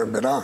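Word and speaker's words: Emberá: yo soy en verá no se dice en Vera sino en verá en verá es digamos la pronunciación correcta estamos en 18 departamentos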